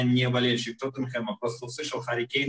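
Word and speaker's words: Harry Kane: Что Гарри Кейн – это как типа анаграмма, если на английском он читается как Харри Кейн. И Харри Кейн – это и есть ураган на английском.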